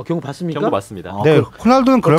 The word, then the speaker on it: 호날두: 생각도 좀 가졌어 어쨌든 호날두 호나우두 아니야 호날두 호죠 호날두 과거 발음으로 치면은로나 로날도 아 로날도 아 시절 호날두가 어쨌든네 번째 골